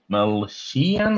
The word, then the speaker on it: Dastmalchian: Dastmalchian, who seems to be in It's the every small chin, as he likes to say.